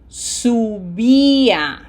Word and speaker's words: subía: Again, we have to be true to the sound of the Spanish vowels. This is U. So this is not sub. Okay? This is yo subía.